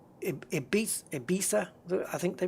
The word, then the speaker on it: Ibiza: You know, it's, and like, Ibiza, I think they pronounce it, but it's the Z is a TH in Spain, so it's like Ibiza.